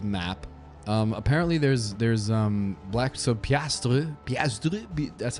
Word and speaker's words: piastre: Apparently there's black, so piastre, that's how you say it.